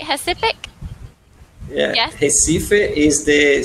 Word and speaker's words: Recife: Recife.